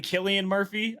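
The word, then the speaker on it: Cillian Murphy: you notice that um I I I always say his name incorrectly Killian Murphy I I think is how you say it so did you notice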